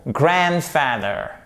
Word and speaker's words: grandfather: Donc, si vous mettez bien l'accentuation sur la première partie du mot, grandfather, c'est 10 fois plus simple à prononcer.